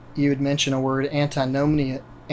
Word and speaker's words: antinomianism: So the other side to that, you had mentioned a word, antinomianism. How do you pronounce it?